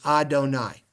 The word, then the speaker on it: Adonai: these vowels here okay because we pronounce the word as Adonai look at the vowels